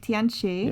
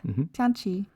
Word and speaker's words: Tianchi: Yeah, it's Chunji in Korean and Tianchi in Chinese. Tianchi.